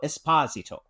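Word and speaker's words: Esposito: He's told us he leans into his Italian heritage heritage. So, it's Jan Carlo Espazito.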